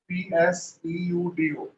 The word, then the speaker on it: pseudo: force, ऐसा pseudo force, PSEUDO, P silent है, pseudo force और इमेजिनरी फोर्स, तीनों